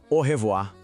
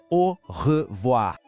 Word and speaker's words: au revoir: A despedida mais famosa e mais usada é au revoir. Vamos para a pronúncia. Au tem som de O, R, de novo ele, o R gutural.